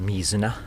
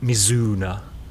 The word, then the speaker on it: mizuna: like a bit of me Xena please don't call it mizuna missoula mizuna is a is a river in somewhere it's not mizuna it's me Xena yeah there's a little